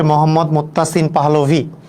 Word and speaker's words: মোহাম্মদ মুত্তাসিন পাহলভী: হ্যাঁ আমার নাম হচ্ছে মোহাম্মদ মুত্তাসিন পাহালভী বাংলা দিয়ে আমি উচ্চারণ করে দেই আর কি মোহাম্মদ মুত্তাসিন পাহলভী এটাই হচ্ছে নাম আর কি মোহাম্মদ মোতাসিম পাহলভী